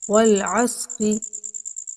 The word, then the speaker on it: والعصر: بسم اللہ الرحمن الرحیم۔ والعصر، والعصر، بچے غلطیاں کرتے ہیں پڑھتے ہوئے والعصری کو والعصر بھی پڑھ دیتے ہیں، تو صاد ادھر متحرک ہو جاتی ہے تو یہ غلط